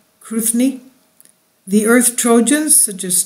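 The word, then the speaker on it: Cruithne: They appear to orbit a point other than Earth itself, such as the orbit path of neo-asteroid Kruithni, C-R-U-I-T-H-N-E. Am I saying it right? Kruithni.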